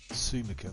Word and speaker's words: Sumika: Sumika, that's how you say her name, Sumika. A bit like sumo.